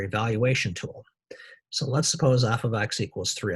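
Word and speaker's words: f(x): parentheses in an x this is pronounced f of x or a function of x f of x and y can be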